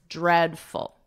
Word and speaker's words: dreadful: In this case, you can think of it as ed, the name Ed, and then just add a dread, and then obviously full, dreadful.